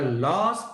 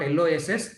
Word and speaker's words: laws: have to live by, not LOSS, LAWS. Because of my English pronunciation, wherever I say law, laws, you will hear it as LOSS. It is not LOSS, it is LAWS.